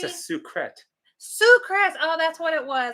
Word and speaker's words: Sucrets: Sucrets.